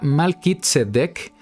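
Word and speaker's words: מלכי־צדק: dar una idea al respecto en hebreo se pronuncia malkit sedec y la Biblia registra que era sacerdote de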